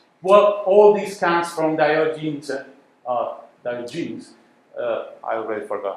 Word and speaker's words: Diogenes: Is that Diogenes? How would you call this? Do you know this guy? Diogenes.